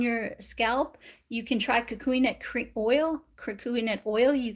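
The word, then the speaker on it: kukui: So if you're having zings on your scalp, you can try cocoon nut oil.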